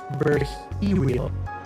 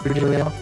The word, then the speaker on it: Virgilio: It's pronounced Verhero. Verhero. Dear hero. Dear hero. Dear hero. Nah. No, I'm pretty sure it's Virgilio.